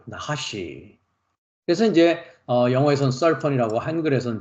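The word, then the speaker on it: נָחָשׁ: 나하시 발음을요. 나하시.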